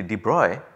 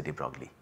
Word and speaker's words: de Broglie: Well, the correct pronunciation is apparently de Broglie, but then I am not good at pronouncing European names, I will just say de Broglie.